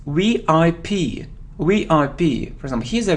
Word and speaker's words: VIP: So it isn't VIP, it's VIP, VIP. For example, he's a VIP person, VIP. We pronounce it like 3 separate letters, VIP, VIP.